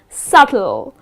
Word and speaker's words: subtle: you on the board is subtle again here the letter B which comes in the middle of the word but you need to skip pronouncing that letter and the correct pronunciation